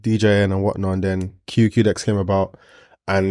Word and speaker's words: Qdex: So it's the Dex.